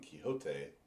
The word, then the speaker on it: Quixo: on that page, but it is there that he actually said it's pronounced Quixo.